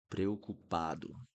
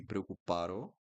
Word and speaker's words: preocupado: This one's a little bit hard to pronounce, especially if you're American. This one is preocupado. Preocupado. If you pronounce correctly the R in the beginning, that's fine, but also be careful with the ending of the word.